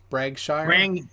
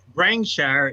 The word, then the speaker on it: Brangshire: Bragshire? Brangshire is how you say it.